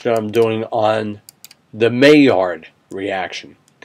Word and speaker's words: Maillard: i'm doing on the may yard reaction it's pronounced may yard in english mayard was a french